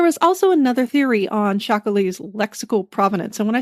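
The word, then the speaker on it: chacolí: But there was also another theory on Shakali's lexical provenence.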